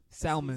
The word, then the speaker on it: salmon: Salmon. Excuse me? But It's salmon. You don't pronounce Salmon.